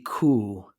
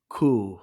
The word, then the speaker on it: Kuh: So it's actually it rhymes with the noise it makes. So die Kuh, Kuh.